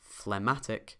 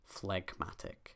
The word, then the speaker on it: phlegmatic: You don't say phlegmatic, you say phlegmatic.